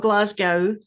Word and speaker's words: Glasgow: that's right okay good it's not Glasgow as some people sometimes pronounce it like Moscow or whatever but um Glasgow and